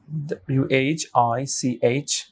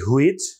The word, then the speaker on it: which: তারপরে হতে পারে WHICH, আমরা বলি হুইচ, সিরিয়াসলি আমিও বলেছি, বাট it sounds like which।